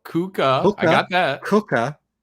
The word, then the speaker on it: kookaburra: what's a kookaburra kokobaro americans have a problem with pronouncing kookaburra i don't know why bara burra say it slow kuka i got that